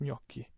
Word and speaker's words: gnocchi: italian pronunciation it makes total sense why that's pronounced gnocchi all right the letter z the letter z